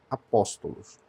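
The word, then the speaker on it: ἀπόστολος: É exatamente o caso de apóstolos. É uma palavra que é acentuada na antepenúltima. Deixa eu colocar aqui. Palavra apóstolos.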